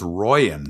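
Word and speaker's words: Rooijen: on the fact of a mispronunciation of his name. It's Royan, so surely it should be Roy, we're all crying.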